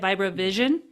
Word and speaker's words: Vibravision: I love this way of vira vision, right? Is that how you say it? Viro vision.